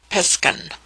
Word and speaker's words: Piskan: Pronounced Piskan.